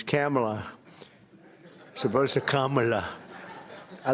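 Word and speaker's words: Kamla: It's Cam, right? Cam as opposed to Com."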